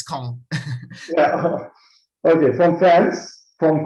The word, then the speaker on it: Caen: It's just one syllable, it's CAEN.